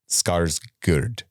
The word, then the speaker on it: Skarsgård: So the whole ceremony is called Hurga, I believe is how it's pronounced. So that would mean Alexander Skarsgård is how you say that. Skarsgård.